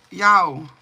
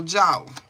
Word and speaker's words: Jao: Is the J silent? Is that Spanish? Like Yao? Or is it like Joe or Jao? So Yao is silent? Sorry, I wasn't looking. Say yes again if the J is silent. J is not silent. Okay, so Jao.